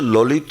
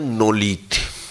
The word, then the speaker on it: ললিত: এবং মা যেহেতু ল উচ্চারণ করতে পারতেন না, মা বলতেন নলিত, আমার নলিত। কি বলতেন? নটা আগে বলতেন। মা বলতেন আমার নলিত।